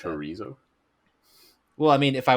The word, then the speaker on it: chorizo: chorizo, It's chorizo. El chorizo. What did you say, Scott? chorizo, Chorizo. chorizo. What? Chorizo. Oh my God. The C. It's like Barcelona.